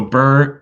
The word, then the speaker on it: BRRRR: borrowing properties first of all how do you spell that secondly what does it mean absolutely so bur uh b-r-r-r-r and so it stands for buy